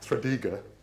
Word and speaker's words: Tredegar: to Wales and he saw this, was in Tredegar. Is that pronounced correctly? Yeah, all right, all right. I can get the goch or goch bit, but anyway. Tredegar.